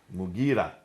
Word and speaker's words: Mughira: Sorry for the Abdul pronunciation. Qais. Qais. In Syria, Al-Muqarid ibn Shuba. Mughira ibn Shuba.